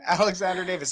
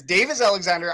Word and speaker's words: Davis Alexander: It's not Alexander Davis. It is Davis Alexander.